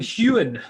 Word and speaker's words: Heughan: Sam Heughan.